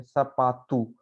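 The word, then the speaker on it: sapato: फिर से एक बार, ओ पे खत्म हो रहा था, हम इसको ओ नहीं पढ़ेंगे, क्या पढ़ेंगे, ऊ पढ़ेंगे, सपातू, ठीक है।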